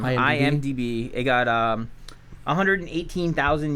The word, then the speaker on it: IMDb: such fun movies um I got an IMBD uh yeah I say it wrong every time IMDb it got um 118